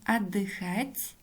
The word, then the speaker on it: отдыхать: о и произносим о слове отдыхать ударение падает на третий слог о в начале слова безударная гласная поэтому произносим как а огонь здесь у безударное